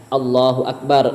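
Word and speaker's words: الله أكبر: Yang tadinya Allahu Akbar, Allah Maha Besar. Ketika kita memanjangkan Allahu Akbar, maka itu akan menjadi istifham, akan menjadi pertanyaan yang artinya apakah Allah maha besar?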